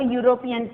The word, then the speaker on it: European: A European tour. Why we have written a here? Because E is a vowel. Because European begins with E. It sounds as U.